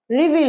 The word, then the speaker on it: রিভিল: আনাকে বলবো আমরা রিভিল উচ্চারণটা কি হবে রিভিল ভিলের প্রোনাউন্সিয়েশন টা একটু বড় রিভিল না রিভিল রিভিল বলো